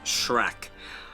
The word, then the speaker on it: Schreck: Of course, Dracula, I had already mentioned, is played by Max Schreck. Not Shrek from the illustrious film series of the early 2000s, but Shrek. It's spelled slightly differently.